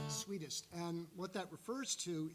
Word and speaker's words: sweetest: um error uh pronounced it's also not she's Swedish when she's naked no it's sweetest and what that refers